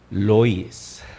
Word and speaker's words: Lewis: Así como se escribe, pero se pronuncia Clive Staples Lois.